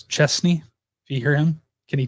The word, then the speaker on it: Chesney: A lot of people say Kenny Chesney, like with a Z, but it's Chesney.